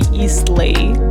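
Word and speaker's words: Eastleigh: by the name because I thought it was going to be spelled like ISLI, but it's actually Eastlay, but nobody says that, so.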